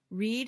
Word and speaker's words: read: Read in the present and read in the past sounds like the color red.